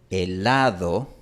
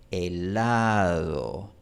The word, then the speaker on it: helado: En español, cuando yo digo helado, esta D sigue estando muy cerca de los dientes, pero no necesariamente toca los dientes. Helado. La lengua solo se acerca a los dientes, pero no necesariamente los toca.